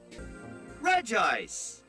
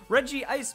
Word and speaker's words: Regice: regice regice so apparently we're supposed to pronounce it for the vowels that are there and not insert any extra letters because Reggie ice makes sense because all